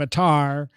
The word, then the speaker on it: Attar: I think my favorite up here is William Attar, because it rhymes with car.